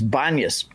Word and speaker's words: Banias: So pus became banas. That's why if you look on a map it's b an n i a s because because of the Arab inability to pronounce the peace sound. So it's banas.